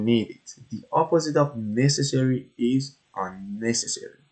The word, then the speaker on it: necessary: it the opposite of necessary is unnecessary so pronounce it necessary distress is on the first syll necessary unnecessary but also